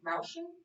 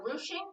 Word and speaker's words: ruching: And then there's a quilting method that kind of gathers fabric together called ruching or ruching. I've heard it pronounced both ways.